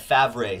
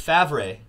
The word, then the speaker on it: Favre: John Elway, Dan Marino, Brett Favre.